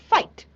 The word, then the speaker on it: fight: of the boy now fight again g&h silent right so so we can hear the sound of f i and T fight okay so G and